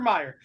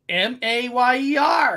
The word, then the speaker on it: Mayer: Oscar Mayer, M-E-Y-E-R, M-A-Y-E-R.